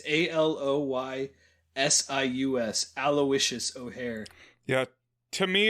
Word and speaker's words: Aloysius: you pronounce this name until needville introduced this pronunciation to me so it's a a-l-o-y-s-i-u-s aloysius o'hare yeah to me it's the other